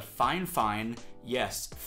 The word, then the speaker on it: Fifine: In this one, I'm going to be reviewing the Fifine, that's how you pronounce it, K669B condenser USB microphone.